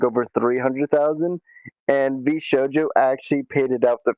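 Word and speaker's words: VShojo: Well, so it just keeps getting worse to to How's the company's name getting pronounced? V Showjo.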